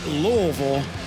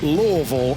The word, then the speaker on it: Louisville: by the way rich it's pronounced louisville for future reference louisville lvl we use one letter twice because that's my hometown and that's how lazy we can be you're seeing some of